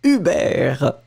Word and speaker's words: Hubert: So she was pronouncing it the French way. Hubert.